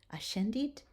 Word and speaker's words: ascendit: When the S and the C are together, we are going to pronounce it sh, as in shine.